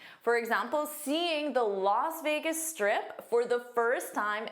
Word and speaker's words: Las Vegas: Let's review this very fun city, Las Vegas. Las Vegas. Notice the pronunciation looks like it should be last because you see an as s.